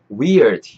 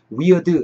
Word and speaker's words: weird: weird 요거 발음 한번 하시는 거 잡아가시고, weird 하지 마시고 weird, weird, 이 R 사운드도 약간 텅 내리시면서 weird, weird 약간 이렇게 하시면 될것 같은데, so랑 weird랑 is랑 다